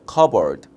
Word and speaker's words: cupboard: 자, 그런 다음에 우리가 이제 찻장이란 단어가 이제 P 사운드는 이제 묵음이고요. 이거 우리가 cupboard라고 이렇게 읽습니다. 한번 인조로 볼까요, 에브리언? 자, cupboard 좋습니다.